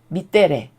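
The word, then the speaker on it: mittere: 단어도 어디서 나온 거냐면 동사 즉 미떼레레라고 읽거든요 이걸 라틴어로요 미떼레 밑데레라고 읽는데 그 동사에서 파생이 되었다라고 나옵니다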